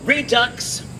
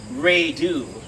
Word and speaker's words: redux: Redux isn't pronounced redo, but that hasn't stopped me.